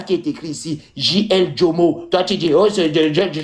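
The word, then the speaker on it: Djomo: Pas Ndormo. C'est Jomo. Jomo.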